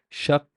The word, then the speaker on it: شق: شق. شق. شق. It's the ق element of the qaf is stressed, is harder.